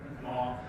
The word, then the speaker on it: Mi'kmaq: been written by a Mi'kmaq, if I'm saying that right. It looks like Micmac, but it's pronounced Mi'kmaq.